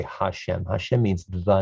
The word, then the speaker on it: Hashem: the hey with apostrophe remember that this is pronounced hashem or la shem because god's name is